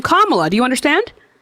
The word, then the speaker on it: Kamala: pronounce Kamala Harris's name Kamala. Do you understand? Kamila.